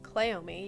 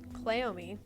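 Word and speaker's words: Cleome: there is a plant and it is called clomi you can look it up it is spelled c l e o m e clomi and it is a cousin to cannabis and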